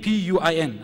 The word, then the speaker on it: Puin: a Muslim, a non-Muslim, a Dr. G.R. Payne, P-U-I-N. I believe he's German. I'm not too sure how you pronounce his name. And, sorry? Puin. Dr. Puin.